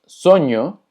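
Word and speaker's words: sonho: se escucha igual que la ñ, pero se escribe NH. Por ejemplo, baño se escucha exactamente igual, pero se escribe con NH. Tenemos soño, que significa sueño.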